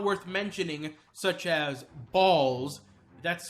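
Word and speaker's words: Bols: irrelevant characters almost not worth mentioning such as balls that's spelled b-o-l-s not b-a-l-l-s and another character named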